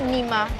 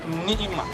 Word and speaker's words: Nima: The name Nima, is it a Hausa word? What does it mean? Nima means it's Arabic language. It's not Nima, it's Ni'ima. Ni'ima.